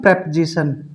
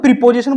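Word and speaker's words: preposition: प्रीपोजिशन बोलते हो ना आप इसको? क्या बोलते हैं आप मोस्टली इसको? क्या बोलते हो? प्रीपोजिशन। बट इसका जो राइट प्रोनाउंसिएशन होगा वो क्या होगा? प्रेपोजिशन, यानी किसी शब्द के पहले की स्थिति।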